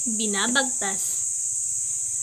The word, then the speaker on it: binabagtas: ang susunod naman na salita ay binabagtas ang tamang pagbigkas nito ay binabagtas ang ibig sabihin naman